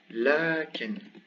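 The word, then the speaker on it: لكن: So what is pronounced is actually lakin.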